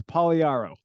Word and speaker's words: Pagliaro: Let me get the pronunciation well. Okay. It's Pagliaro. Pagliaro, okay.